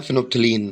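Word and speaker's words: phenolphthalein: तो भैया इसके एग्जांपल है मिथिलिन ऑरेंज और दूसरा हमारा फिनोलोफिथिलॉन। मैं मेरी प्रोनाउंसिएशन यहाँ पे गलत हो गई है। तो भैया दूसरा वाला है फिनोप्थिलीन।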